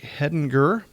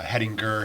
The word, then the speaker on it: Hedinger: they pronounce it wrong a lot of people pronounce it wrong that's kind of the fun part of it uh heading G heading jur there's probably some other